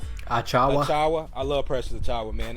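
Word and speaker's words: Achiuwa: Precious, how you pronounce it? Achawa.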